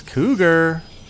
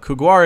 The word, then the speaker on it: Couguar: It is Cougar. And Couguar? I guess it's Couguar. Specifically, Cougar is spelled C-O-U-G-A-R. But Couguar it is.